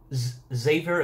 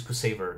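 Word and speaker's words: Ksaver: We might go back, and we might go back to, Xavier, apparently his name is Kusaver. That's how you pronounce it, apparently, according to the official English translation.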